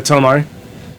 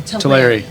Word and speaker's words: Teleri: But God, my pronunciation is so bad. The Thranir elves? The Telemari? The Teleri? Teleri, sorry.